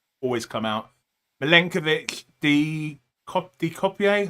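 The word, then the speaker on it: De Cuyper: Milenkovic, De Copier. How do I say his name? Kuiper. De Kuiper.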